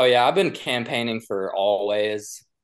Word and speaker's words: Alvvays: Speaking of obnoxious, no, yeah, I've been campaigning for Always, ALVVAYS is how they spell it, for like 2 years now.